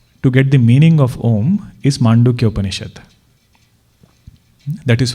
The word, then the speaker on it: Om: that itself will create the sound om o and m you don't have to pronounce m separately you just close your mouth and allow that air to keep going out it will pronounce m and o is that